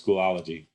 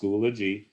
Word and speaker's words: Schoology: I called it Schoology until somebody corrected me and said, "Hey, you're adding a syllable." So it's pronounced Schoology.